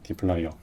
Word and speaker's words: dplyr: 그런 생각도 많이 드는데 디플라이어를 저는 이제 데이터의 D 그 다음에 플라이어라는 이름으로 많이 설명을 합니다. 그래서 플라이어라고 하는 거는 이렇게 생긴 그 공구를 의미해요.